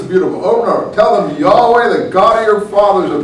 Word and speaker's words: Yahweh: think it was actually ultimately pronounced Yahoo because all the prophets are called things like Isaiah is ishiyahu with Yahoo God's name at the end of his name Jeremiah Jeremy Yahoo and